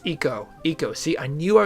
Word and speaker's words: Eco: bought these these games, I was calling it Echo Quest because it's ECO. Someone on the Sierra forums corrected me and said that's probably pronounced eco, which makes way more